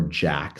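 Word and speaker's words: JAK: blocks the JIS kindness or Jack signaling pathway and I'll spell that for everyone out there j a k this pathway is involved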